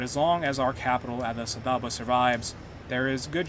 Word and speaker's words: Addis Ababa: long as we control Addis Ababa. I think that's how it's actually pronounced, not Addis Ababa.